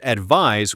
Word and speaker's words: advise: Advice with a C versus advise with an S. And the pronunciation is key here. Advice with a c has an s sound like ice. Advise with an s has a z sound like realize.